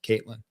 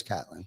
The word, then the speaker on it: Catlin: are watching right now, I apologize for Ty calling us Caitlin, but that's all right. No doubt. I do know a Jim Caitlin, spelled with a K though. Spelled the same exact way. Yeah. But they spell it with a K. I know it's Catlin.